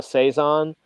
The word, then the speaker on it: saison: of beer called a saison it's spelled sa is o n but it's like as it's a seasonal so seasonal seasonal yeah